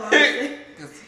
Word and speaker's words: Lancia: Conica Lancia. Some Conica of us can't spell. Lancia, not Lancia.